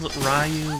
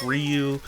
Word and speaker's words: Ryu: sorry we're going back it's spelled rayu but it's pronounced Ryu that's how you see